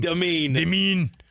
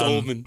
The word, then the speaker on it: Demin: Demin. Not Dolman.